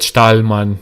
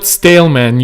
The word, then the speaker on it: Stalman: Stahlman without the H. I wonder, like, if his roots are similar to mine in that regard. It's all okay. Thank you, guys. Yeah, to me, I would pronounce that Stahlmann because I live in Germany. So I will put it still at 1.25, and I'll watch it at 1080p. Louis, it's not Staleman, you guys.